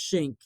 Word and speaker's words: Schenck: But it's called "I Got Arrested for My Free Speech," and that's what this case, which is pronounced Schenck, okay, Charles Schenck.